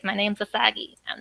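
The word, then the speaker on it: あさぎ: It's like my name's Asagi. I'm not the pretty one. It's like Asage. It's like Asagi. It's like, no, say it right. Close to Usagi a little bit.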